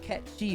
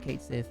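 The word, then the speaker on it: Cait Sith: It's pronounced Kchi, by the way. Nobody believes me. And in the new one in English, they decided to stick with Kate Sith, and I'm angry about it, but that's okay.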